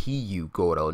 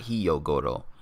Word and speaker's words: Hyogoro: And I kept saying his name wrong, but I just didn't say it right. It's Hyogoro, not Hyogoro.